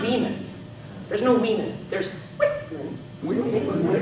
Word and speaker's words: Whitman: If you make your vowels long in the stressed syllable, what I mean by that is Whitman. Try that. Whitman. Whitman. Yeah, notice it's not Whitman. It's Whitman.